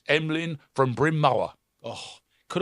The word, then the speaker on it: Emlen: because I'd just like to highlight one guy there, which is because, not least which, his name is Emlyn. Oh, okay. His name's Emlyn Tunnell, but Emlyn is spelled Emlen.